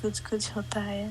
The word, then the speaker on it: Kuch Kuch Hota Hai: movie, I guess, like the classic, like Kuch Kuch Hota Hai.